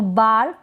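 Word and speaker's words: bar: साथ जुड़ जाए और लास्ट में आर को हम बिल्कुल साइलेंटली सा या थोड़ा सा प्रोनाउंस कर देंगे तो चलेगा और ना भी करते तो भी चलता है अंग्रेजी में तो बार कार और जार इस तरीके से इनको हम प्रोनाउंस करेंगे नेक्स्ट है यह है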